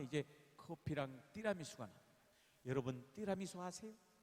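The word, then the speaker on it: tiramisù: 여러분 띠라미수 아세요? 띠라미수 이 발음이 오리지널 발음이에요. 띠라미수가 이태리 말입니다.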